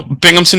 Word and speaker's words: Binghamton: witon right is there a better way to pronounce for our students joining in no bingamon University yep great great so welcome everybody and